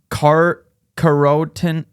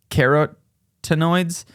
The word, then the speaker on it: carotenoids: Carotenoids. How do you say that? Carotenoids. Carrots. It looks like the word carrot, but with anoids at the end.